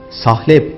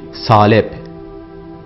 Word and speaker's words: salep: Sahlep değil salep.